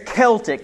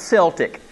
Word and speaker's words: Celtic: so y'all are aware it's celtic not celtic it's the baltan celtics okay all right all the boston people got it wrong right but nonetheless so